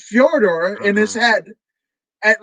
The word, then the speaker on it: Fedor: what furor you know that's the correct pronunciation of his name but furor us Americans and and North Americans would say Fedor but fjor that's where he kind